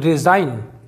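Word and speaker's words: resign: देखते हैं दो दोस्तों रिजाइन रिजाइन का मतलब होता है त्यागपत्र देना तो यहां पर एन के पहले जी साइलेंट है डिजाइन डिजाइन का मतलब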